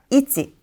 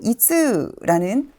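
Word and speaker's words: 一: 개네요 하나씩 살펴보도록 할까요 첫 번째는 있지 두 번째는라고 발음하게 됩니다 단어에서 살펴보도록 할게요 1년이 진행 1번이라고 쓰여 있기 때문에 물론 1번이라는 뜻도 있지만 가장 최고로라는 의미를 가지기도 합니다 이찌방 이찌방 그리고 한번이라는 단어인데요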